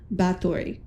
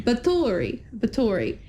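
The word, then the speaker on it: Báthory: So next we have the arrival of Countess Elizabeth Bathory. Bathory? I'd said it wrong. Bathory.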